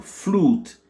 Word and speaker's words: flute: OU, c'est un U lent. Donc on dit OU, flute, flute.